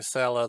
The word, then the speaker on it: Sela: idea whether i'm pronouncing cello the way the author intended i apologize if i am not but i could not resist pronouncing it as many peoples including my people might pronounce the word seller s-e-l-l-e-r because the seller